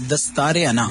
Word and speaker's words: Dastaar-e-Anaa: इट्स दस्तार अना दस्तारे। दस्तार is turban. Turban और अना इज ईगो।